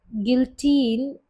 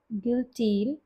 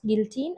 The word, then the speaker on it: guillotine: सो गिल्टीन, ओ आई am pronouncing it wrong, it's guillotine. मुझे भी नहीं पता guys, I'm searching it on the Google. So it's pronounced guillotine and it's a machine used for cutting paper.